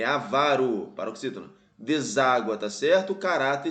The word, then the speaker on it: avaro: álbum por exemplo né Então ávaros pessoal ávaros áv não pessoal não é áv É avaro então ele quer a